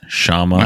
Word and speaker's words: Kshama: actually kind of popular Brian it's pronounced Shama hi oh my god